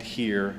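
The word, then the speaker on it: hir: So throughout the book, the protagonist, I refer to the protagonist with the non-gendered pronouns of G and here, Z-H-E and H-I-R. That's how I pronounce them.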